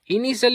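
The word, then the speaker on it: initial: इनिशल means होता है सुरवाती।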